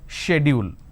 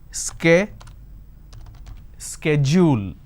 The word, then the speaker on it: schedule: I mean by this the British pronunciation is shed you'll and American pronunciation is scare schedule and this is a